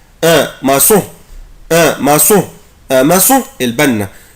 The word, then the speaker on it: maçon: un maçon un maçon un maçon un maçon un maçon البنا. فاكرين طبعا احنا قلنا العلامة اللي تحت لتر سي دي علامة اسمها اكسون سي دي عشان انطق حرف السي اس.